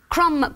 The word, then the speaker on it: crumb: Horrifically, they're all words that close with a silent letter. Oh, crumb, okay. Column, debris, crochet, you do not hear the last letter.